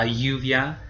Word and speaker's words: lluvia: The LL, it sounds just like the Y sound, so it kind of makes a ya or a ja sound. Here I have used la lluvia as my example.